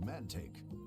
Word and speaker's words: Mantaic: Welcome to the Desert Oasis, Mantaic. Oh, that's how it's pronounced.